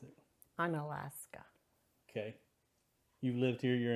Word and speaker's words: Unalaska: How do you pronounce it? Unalaska.